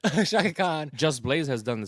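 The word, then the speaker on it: Chaka Khan: It's Shaka Khan. Shaka Khan, Shaka Khan. You gotta say it like that. Shaka Khan.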